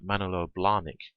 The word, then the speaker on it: Manolo Blahnik: watches like Mont Blanc Rolex or shoes like Manolo Blahnik that's how it's pronounced very high priced products with a high